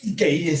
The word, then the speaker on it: Keiji: filosofía de la escuela de Kyoto, que es Keji Nishitani, no sé si así se pronuncia. Keiji.